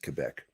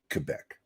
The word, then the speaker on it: Quebec: are at quebec all right i'm army we pronounce it quebec it is actually part lord thought just so